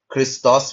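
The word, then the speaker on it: Χριστός: क्रिस्टोस में हम लोग देखते हैं अगेन जो ओमिक्रोन है उसके ऊपर एक्यूट ब्रीथिंग वर्क है तो ओ के ऊपर ज्यादा तवज्जो देते हैं।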